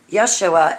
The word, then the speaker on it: Yeshua: yeshua first of all yet dummy you dummy yeshua is the correct way to pronounce his name just like holly you pronounce